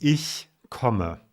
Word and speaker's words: Ich komme: By the way, the title of the song is pronounced Ich komme. That's how you pronounce it.